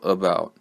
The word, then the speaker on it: about: So for example, about, right? About. So I try to pronounce the second syllable in that word. This word has two syllables, but the first one I just move through real quick.